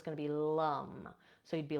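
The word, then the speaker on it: lam: for the root is Lum Lum and so it's spelled l a m but the a in Sanskrit is pronounced uh so it's going to be Lum so you'd be like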